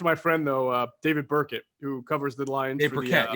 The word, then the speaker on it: Burkett: apricot yeah i know i always say berkey because of the picture i know well it looks like it spelled like that i i got it wrong for years until he corrected us but anyway right who's